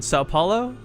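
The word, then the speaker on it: São Paulo: for the I'm going to try it again sa Paulo is that it yes yes we getting good at pronunciations today with riffkin I'm impressed all right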